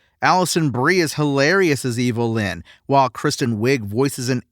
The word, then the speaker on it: Evil Lyn: Ram Man and Fisto and Mechanic, Evil Lyn, whose name is just a phonetic way to pronounce Evelyn, they're all, quite frankly, pretty dumb.